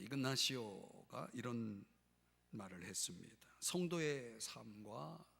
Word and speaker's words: 이그나시오: 로라의 성 아 이그나시오 이냐시오 이렇게 발음하기도 하는 이그나시오 이런 말을 했습니다 성도의